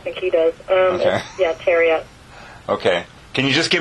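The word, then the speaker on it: Thieriot: I don't even know how to pronounce his last name. Terriot, yeah. Okay. Nobody does. I don't think he does. Okay. Yeah, Terriot.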